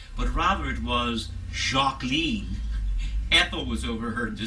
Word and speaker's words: Jacqueline: first name was not jacqueline but rather it was jacqueline apple was overheard to say and it rhymes with queen but there was a